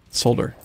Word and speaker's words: solder: mr solder over here it's called solder yeah i'm glad you said it right i said what right the word solder we need solder with the l in it i should call